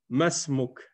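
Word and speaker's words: ما اسمك: Et comme j'avais expliqué ici, le Hamza qui est ici, c'est Hamzatul Wasl. Donc, on ne le prononce pas. C'est comme s'il n'était pas là. Donc, si tu dis masmuk directement.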